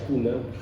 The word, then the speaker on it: Guna: de estos indígenas Cuna, se puede pronunciar Cuna, aunque se escribe Guna, pero la G en Cuna suena más parecido a acá.